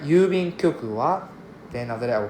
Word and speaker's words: 郵便局: 郵便局 is 郵便局. Right. The intonation is 郵便局.